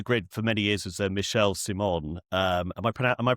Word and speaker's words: Michel Simon: Yeah, and I've I know on the grid for many years was Michelle Simon. Am I pronouncing that right? Yes, Michel Simon.